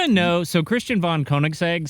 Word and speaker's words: Koenigsegg: And I'm going to try to say this and pronounce this correctly. I believe it's Koenigsegg.